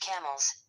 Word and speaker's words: Campbell: The Colonia of Camilleunum, the fortress of the Kimls or Campbell, pronounced camels, stood near the site of the present town of Falerk, 25 mi west of Edinburgh.